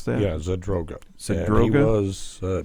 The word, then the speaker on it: Zadroga: It's Zadroga. Is that how you pronounce that? Yeah, Zadroga.